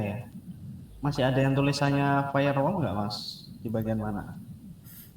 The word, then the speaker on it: firewall: Kalau ini bacanya gimana berarti? Firewall.